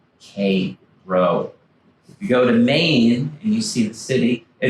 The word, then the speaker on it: Cairo: If you go down into the Hudson Valley, they have a town that is spelled the same as that city in Egypt. It's not Cairo. Cairo.